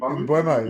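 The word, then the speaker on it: Mbeumo: Mbuemo.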